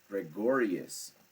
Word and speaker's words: Gregorius: Gregorius.